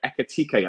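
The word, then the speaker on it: Ekitiké: Firstly, Fabrizio, can you give us the latest on Newcastle's interest in the Rem striker, Ekitike? I hope I pronounced that right. Yes, the pronunciation is correct.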